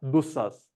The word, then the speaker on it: दुस्साहस: Connect हो रहा है विसर्ग का उच्चारण अगले शब्द के साथ, तो यहां पर विसर्ग का स में परिवर्तन हो जाएगा। ठीक है, दुह का दुस्साहस, तो आधा सा लग रहा है हमारा, दुस्साहस।